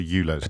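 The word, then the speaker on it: ULEZ: about it for the eulos right so so before I became well there's a raging debate potatoes I'm changing the way I pronounce I'm going for Euless now potatoes potatoes potatoes so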